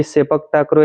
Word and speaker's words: sepak takraw: अच्छा तो ये सर सेपक टोकरा के बारे में बताइए। मैं प्रोनाउंसिएशन सही कर रहा हूं इसका। सेपक टाकरो। सेपक टाकरो।